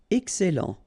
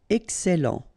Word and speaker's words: excellent: Excellent. Okay, you've got double L here, and then it will open the sound of your E here, and it will be E. Excellent. Excellent.